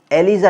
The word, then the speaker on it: ELISA: अंग्रेजी में स्पेलिंग लिखें तो ELISA, एलिसा टेस्ट जो होता है, इसको एलिसा भी बोल देते हैं, एलिजा भी बोल देते हैं।